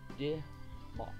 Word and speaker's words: Damak: De Mock. De. I think it's his or guy. D-I-H hyphen. Mock. So you don't really pronounce it with the A's.